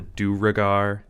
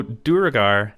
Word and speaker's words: Duergar: sorry buddy but uh so duragar is actually from Norse but the the U is a v but they do pronounce it the same way so it's durgard durgar whatever they even they pronounce it differently in different areas and stuff so that